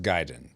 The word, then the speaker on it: Gaiden: And it's pronounced Gaiden, Paul.